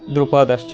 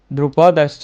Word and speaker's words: দ্রুপদশ্চ: বিরাট আচ্ছা শিক্ষার্থীরা আমরা সন্ধির ক্ষেত্রে আমরা ধ্বনির মাধুর্য সম্পাদনের ক্ষেত্রে আমরা সন্ধি ব্যবহার করব, অর্থাৎ আমরা উচ্চারণ করব বিরাটাশ্চ দ্রুপদশ্চ। তাহলে কি হয়? ইয়ুধান বিরাটাশ্চ দ্রুপদশ্চ মহারথা।